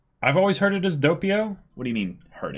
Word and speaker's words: Doppio: And Doppio is yeah, and I a believe word, it's pronounced Doppio, but it's Italian for double.